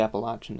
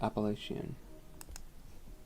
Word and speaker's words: Appalachian: yeah that's the one I'm familiar with supposedly Appalachian is the right way to say it and I call it Appalachian okay I think somebody's just stealing us the